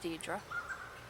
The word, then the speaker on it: Deirdre: Apparently that's pronounced Deirdre.